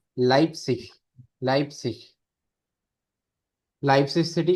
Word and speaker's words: Leipzig: लाइप्सिश, लाइप्सिश। Leipzig. Leipzig. ठीक है, ई आई याद रखना है, लाइप्सिश, लाइप्सिश, लाइप्सिश सिटी का नेम हो गया।